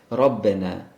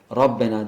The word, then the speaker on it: Rabbena: kalın okunur ne gibi Rabbena gördüğünüz gibi Rabbena derken Rab diye kadın okuyoruz sonra kendisi Sakin ikinci